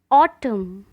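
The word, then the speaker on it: autumn: Silent letter N. ऑटम, ऑटम मतलब पतझड़।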